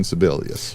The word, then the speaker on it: Sebelius: the Obamacare computer system that's the woman that's sibelius is that how you say it no sibelius is is the Secretary of uh hHw or Health and Human Resources that's right Health and Human Services secretary Kathleen Sebelius because I actually don't have a problem with